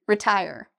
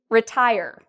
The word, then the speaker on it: retire: Retire. So we have 3 syllables, re-tie-er. And then when we say it quickly, retire. Okay, so you'll notice retire. I say tie a little bit louder and longer.